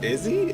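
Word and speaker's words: IZZE: So this is Izzy. That's how it's pronounced?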